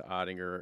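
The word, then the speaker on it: Oettinger: the flurry deal but his name has three syllables right and it's kind of a hard name to say so the fan base they started trying to do otter odd or which you can't do because it's almost like a compliment you're like calling him him his nickname or whatever so I would just say if we're going to do that we got to grind through the three syllables we got to go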